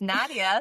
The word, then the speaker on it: Nadia: And you know what I love is that I just learned how to pronounce your name. It's Nadia.